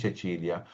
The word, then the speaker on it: Cecilia: अभी आप alphabet pronounce करो सी के साथ ना, चे हम लोग बोलते हैं चेचिलिया।